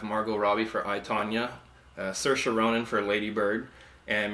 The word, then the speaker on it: Saoirse: how to say her name properly it's not sour ICI oh yeah it's Saoirse it's she's Irish she's been making the talk